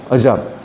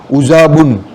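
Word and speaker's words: عُجَاب: होता ही नहीं है अजाब इसको बोलने के टाइम में उसको इस तरह से प्रोनाउंस बोलना है उजा बुन देखो इसमें बताया ना इसमें जो लिखा हुआ है ना उजा बुन क्योंकि इनको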